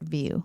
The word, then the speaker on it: Vieau: So that's how you say it, view.